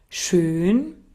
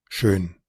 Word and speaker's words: schön: Y claro, si no supiéramos del alfabeto fonético internacional, fácilmente pensaríamos que esos lo están pronunciando como una U, ¿vea? Porque como es una E redonda y la E redonda es hacer la E con forma de U, fácilmente podríamos irnos por ese camino.